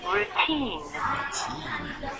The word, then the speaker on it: routine: The reason the T is strong is because the stress is on second syllable.